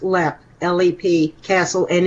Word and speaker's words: Leap: LEP Castle it's uh spelled leap but it's pronounced LEP Le castle and it's